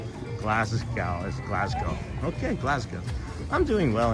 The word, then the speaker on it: Glasgow: Just FYI, uh, Scott's pronounced Glasgow as Glasgow.